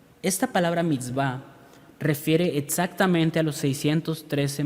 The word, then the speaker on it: mitzvá: llama en hebreo mitzvá se escribe m y tz v a mix va esta palabra mix va refiere exactamente a los